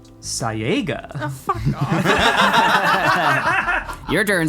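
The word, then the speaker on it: Cyaegha: Hi, the servant of Kyaga. And as far as Chaosium is concerned, that word is pronounced Sayaga.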